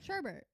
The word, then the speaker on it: sherbet: gonna give it away sherbet how do you say it sherbet sherbet yeah spell that s h e r b e r t yeah there's no R sh in the last part part it sh it's